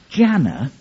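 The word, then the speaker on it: Gianna: Jana is spelled g-i-a-n-n-a if you're trying to use word association the only thing I can think of is spanner if you think about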